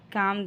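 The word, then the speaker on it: calm: हो जाओ you just काम down काम में एल साइलेंट है नेक्स्ट मैं उससे खुद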